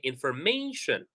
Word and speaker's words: information: So for words that end with shin, we stress the syllable right before shin. For example, information. So if I'm using my pencil, I can say information, innovation, immigration. All right. So whenever we have the syllable before shin, we stress that syllable.